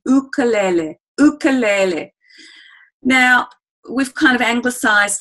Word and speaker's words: ukulele: means jumping sleep and it's actually pronounced in Hawaii luke'll le ukulele now we've kind of emphasized that and particularly in Australia we tend to say ukulele or the uke okay